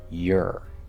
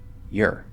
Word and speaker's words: you're: saying your, we're going to say your. So we take that R-colored O, reduce it down to an vowel sound, which is the normal thing that happens for or when it's in an unstressed syllable. So we just get your.